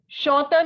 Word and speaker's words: chanteur: Chanteur means a male singer. You know that the sound of AN is O. So we have chanteur. The sound of R will not come.